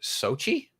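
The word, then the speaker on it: Xochitl: of her name is x-o-c-h-i-t-l but apparently it comes out to sochi so sochi gomez that's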